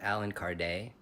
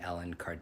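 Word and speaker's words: Allan Kardec: see the teachings of Alan Card a lot of people say alen card because they don't know how to pronounce his name he was a French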